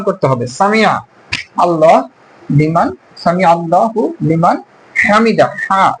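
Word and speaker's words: سمع الله لمن حمده: উচ্চারণ করতে হবে সাল্লাল্লাহ সামি আল্লাহু লিমান হামিদা হাটাও হলকের শেষ ভাগ থেকে উচ্চারণ করতে হবে হা মিদাহু এই হাশু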